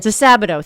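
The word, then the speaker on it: DiSabito: DeSabato, thank you.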